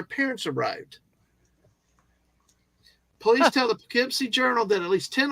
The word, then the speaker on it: Poughkeepsie: Poughkeepsie, yeah.